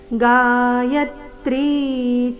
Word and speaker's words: ಗಾಯತ್ರಿ: ಸಾಮ್ನಾಂ ಬೃಹತ್ಸಾಮತಥಾ ಸಾಮ್ನಾಂ ಗಾಯತ್ರಿ ಯ ಮೇಲೆ ಆಘಾತ ತ್ರೀ ದೀರ್ಘ ಗಾಯತ್ರಿ ಛಂದಸಾಮಹಂ ಮಾಸಾನಾಮ